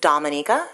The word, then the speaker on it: Dominica: my country's name is Dominica we are not Dominican Republic so it's pronounced differently um we are about